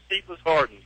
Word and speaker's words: Cephas Harden: I had to get pronunciation clarification on that, but it's Cephas Harden.